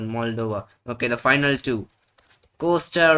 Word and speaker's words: Moldova: Mol- Mol- Not Maldova, but Moldova.